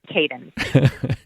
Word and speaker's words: Kadin: caden means woman in turkish in turkish it's pronounced but i didn't think that we would be able to push that so it's kaden yeah your interviewer would have got that one